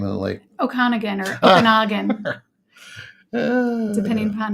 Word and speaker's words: Okanagan: film school in Vancouver oh it the interior then it's Okanagan or Okanagan you were saying it right I was correcting you